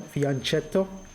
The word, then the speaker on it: fianchetto: Again, I think one of the players, well, he isn't playing this anymore, but I think he told me how to pronounce this pattern, fianchetto.